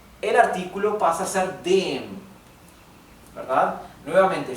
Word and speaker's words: dem: artículo pasa a ser dem, ¿verdad? Nuevamente, fíjense que pronuncio la E más larga porque acá tenemos una M sola. Dem, no digo dem, digo dem, ¿verdad?